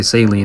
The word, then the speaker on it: Celine: Celine shows up, or should I say Celine? That's how you say her name.